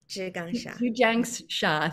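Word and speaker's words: Zhi Gang Sha: I feel like I'm saying her name wrong. Can you correct me again? Zhu Jiang Sha, thank you.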